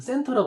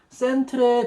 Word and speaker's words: centre: CENTR 그 센터라고 그러잖아요. 미국 스펠링으로. 근데 호주는 CENTRE라고 이렇게 써야 돼요. CENTRE 발음할 때 센트레 그러면 안 돼요. 센터 하면서도 스펠링 그렇게 써야 돼.